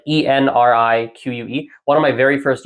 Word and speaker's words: Enrique: Because the problem is N, and R, those two are very close together. It's actually difficult to transition between the two letters.